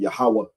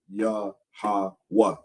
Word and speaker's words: Yahweh: Instead of saying Yahweh, Yahweh, it would be Yah-ha-wah, like that. So for ancient Hebrew, we